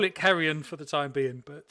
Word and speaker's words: Carrion: We can't pronounce it Carry On because obviously in the UK that means something slightly different. So we'll call it Sid James. Yeah, exactly. So we'll call it Carrion for the time being.